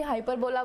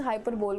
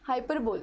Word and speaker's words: hyperbole: Now next is, इसको कोई hyperbola बोलता है, इसको hyperbole बोलता है. What I do is hyperbole बोलती हूँ मैं, ठीक है. And many a times I pronounce it as hyperbola. Okay, hyperbole.